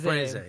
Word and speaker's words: Caprese: How do you pronounce this, Jeremy? Caprese salad? Caprese. Caprese. Caprese, yes.